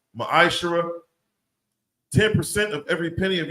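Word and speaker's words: מעשר: Means tenth in the Hebrew. It's pronounced ma'ashara.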